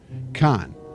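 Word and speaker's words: Carn: Khan, officially the colloquial pronunciation of come on.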